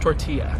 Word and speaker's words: tortilla: It's pronounced tortilla.